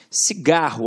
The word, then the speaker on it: cigarro: Cigarro, ó, cigarro. Então, o gá tem um som mais forte.